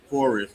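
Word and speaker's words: Fauxrest: Well, you can, but we usually call it forest.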